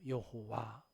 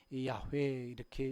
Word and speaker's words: 야훼: 여호와. 야훼, 스스로 있는 자 여호와. 우리가 여호와 하나님 그러잖아요. 그 여호와, 더 정확한 발음은 야훼 이렇게 이야기합니다.